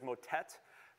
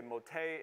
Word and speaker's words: motet: his gran motei um we would see that in the word that we use our pronunciation is motet they would say motay it's basically it means